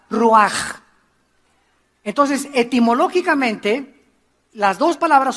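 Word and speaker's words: רוח: Se escribe ruach con CH, se pronuncia con J, ruach.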